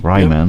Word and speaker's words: Ryman: I hope it's pronounced. Yeah, the Ryman. Ryman, yep.